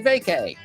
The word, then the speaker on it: vacay: Well, we say vacay.